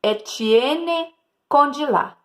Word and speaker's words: Étienne Condillac: Pronuncia-se Étienne Condillac.